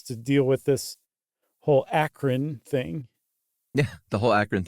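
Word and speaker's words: Akron: I say akan beacan the akan Beacon Journal I say it like a local yeah sure and it's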